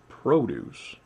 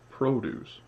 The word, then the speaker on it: produce: the lower balance so produce all right with stress on the first one produce that's noun produce that's the verb or that pattern with